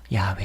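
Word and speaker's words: 야웨: 이스라엘 전통 의학자들은 예 전통적으로 알려져 있는 이름은 바로 야외 입니다 야외 왜 그 거야 외란 발음이 어떻게 보면은 좀더 정확한 발음 이라고도 할 수가 있겠죠 그럼 여호와 라는 발음은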